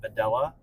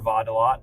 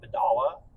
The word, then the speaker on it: Videla: Me on Instagram is Videla, pronounced Videla or Vadala, not Vidala, which is a common thing with people.